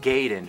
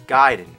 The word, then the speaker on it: Gaiden: here we're talking ninja giden everyone always said Ninja gayen but I know for a fact it's giden you know where I